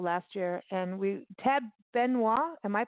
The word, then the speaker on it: Benoit: the folk festival last year and we tab benoit am i pronouncing this correctly chad benoit yeah he's a headliner that's correct yeah and